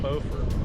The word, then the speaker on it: Beaufort: foreign North Carolina not to be confused with Beaufort South Carolina here they pronounce it Beaufort spelled the same but pronounced differently so we're